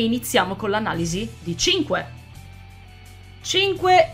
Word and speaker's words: Cinque: ci crederete mai ma il suo nome si pronuncia 5 e oggi andremo ad